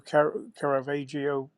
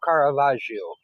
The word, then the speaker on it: Caravaggio: I didn't know who car kavio however you say his name was he was a painter you're close enough it's kavaj it's m Michelangelo Caravaggio oh is he the